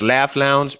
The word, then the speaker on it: LAFF Lounge: It's Laugh Lounge, but LAFF. Yeah, spelled highly improperly, but extremely phonetically.